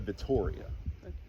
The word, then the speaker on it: Vittoria: Um the gun that I I like the most out of them is called a Beretta Vittoria. The Vittoria? It's like Victoria, but it's spelled Vittoria.